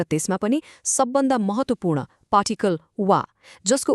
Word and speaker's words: は: लेख्दा खेरि हामी हिरा गानाको ह अक्षर म्हणजे ह लेख्छौ तर जब यही अक्षर पार्टिकलको रुपमा वाक्यको बिचमा आउछ नि तब यसको उच्चारण हदैन। यसको उच्चारण हुन्छ वा।